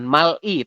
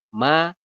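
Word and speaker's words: 말이: akhir ketemu vokal jadi kita bacanya bukan Mal I tapi Mai Saya ulangi dibacanya bukan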